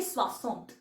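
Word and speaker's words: soixante: आगे अगर 60 आ जाएगा तो उसे बोलेंगे स्वास स्वा स 60 ओके एस ओ आई एक्स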